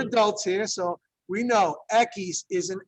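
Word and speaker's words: equis: Ekis. Some of you are just shaking heads out there and in denial. But the thing is, you've heard of the beer called Dos Ekis. Yeah, 2 X's, right?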